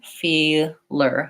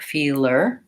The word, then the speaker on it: feeler: like all feel tall I was also thinking for words like taller and feeler feel ler taller where we break those words is here feeler feeler taller and so those function a little bit more like a light L I would say for